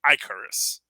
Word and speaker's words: Icarus: Yeah, and just the idea of that the way you're supposed to pronounce it is Icarus. It's not Icarus, it's actually Icarus.